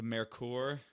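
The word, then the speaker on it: Merkur: I was told by somebody that when I pronounced it Mer- incorrectly. it's Mercur, Mercur, it short was for Mercury.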